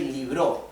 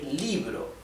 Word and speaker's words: libro: We do not say liro, we say libro. The stress is on letter I, right?